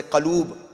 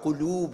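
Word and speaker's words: قلوب: Most of the time people say Qaloob. Qaloob is the wrong word. Qulub is the right word.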